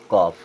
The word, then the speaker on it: calf: यहाँ CALF, ए के बाद एल, तो ये भी हो जाएगा साइलेंट और इसे पढ़ेंगे कॉफ।